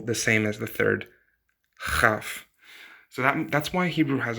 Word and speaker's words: כ: to the third one, which is chaf. So chaf is a like bring up phlegm. So again, the second one, het, is now mostly pronounced by most people, the same as the third, chaf.